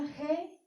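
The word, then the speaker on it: ה: Se pronuncia Hei o Hei.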